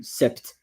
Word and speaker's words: sept: So I was saying that you don't pronounce really the P. Um it's really rare that I hear someone saying sept.